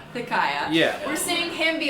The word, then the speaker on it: Thiciah: Thiciah. Thiciah.